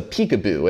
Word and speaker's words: PCAOB: It's called the PCAOB, but apparently it's pronounced the peekaboo.